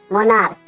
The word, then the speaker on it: monarch: মোনার্ক, মোনার্ক মানে হচ্ছে রাজা, রাজাকে আমরা বলি মোনার্ক, কিং, মোনার্ক। দেখো MONARCH, সিএইচ আছে, কিন্তু সিএইচ এর উচ্চারণটা ক এর মতো, তাহলে প্লুরাল করতে গেলে